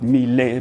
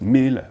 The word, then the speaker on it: Mille: Plain straightforward, Richard Mille, not Mille, but just Mille, meaning Richard 1000.